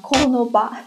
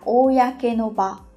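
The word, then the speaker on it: 公の場: Và có thể mọi người nghĩ là nó sẽ được đọc là konoba chẳng hạn. Thế nhưng mà thực ra cái cách đọc đúng của nó không phải là như vậy. Chữ công này khi đứng một mình các bạn sẽ đọc là oyake. ở đây sẽ là oyake no ba.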